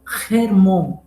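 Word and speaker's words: חרמון: atenção dos israelitas porque em hebraico ele é pronunciado como remon é como um cultural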